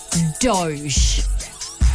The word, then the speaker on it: DOGE: Elon Musk has a doge you know what I mean a doge that's his government Department it is the Department of government efficiency and it's pronounced Doge like Doge cat okay cool I said